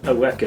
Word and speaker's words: Eureka: Not Eureka, Eureka, that's how it's pronounced, I don't know why.